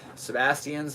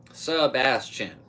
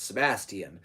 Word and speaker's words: Sebastian: am him you know you might know a lot of sebastians in your life or sebastians which is only three syllables versus four see like when you say Sebastian subastian that's three subas that is my name that's four so if you don't